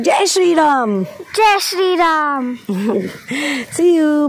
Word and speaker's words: Jai Shri Ram: Say it like Jai Shri Ram.